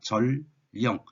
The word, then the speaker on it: 절령: 자, 발음은 절령입니다. 절령.